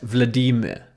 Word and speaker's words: Vladimir: He said that his first name, if it's pronounced correctly, should rhyme with the English word redeemer. So I do my best. Vladimir.